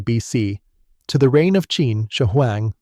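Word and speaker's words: Qin Shi Huang: the 3rd century BC to the reign of Chin Shahang, pronounced Chin Shia Huang.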